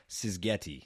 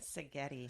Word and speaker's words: Szigeti: Sisguetti. I said that correct? Sigetti. Sigetti. The Z is silent.